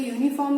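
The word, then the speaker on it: uniform: तो देखिए यूनिफॉर्म में जो पहली साउंड है वो यू सुनाई दे रही है हमें। तो यू जो है वो अ और य दोनों ही साउंड्स प्रोड्यूस करता है।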